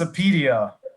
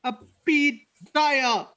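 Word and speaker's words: Apidya: Very, very easy. It's just Apedia. Just Apedia. There's an I, not a Y. Apidaya. Apedia. No, it's Apedia, you know?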